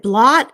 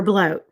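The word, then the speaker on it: blót: Is it blot or bloat? Because my research says it's pronounced bloat. It doesn't really matter. People from different countries pronounce it in different ways. I've always called it blot. Some of my friends call it bloat. Okay. But I prefer to stay away from bloat because you're getting towards bloat, which is blood.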